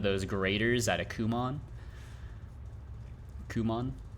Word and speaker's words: Kumon: Kumon? Not pronounced come on.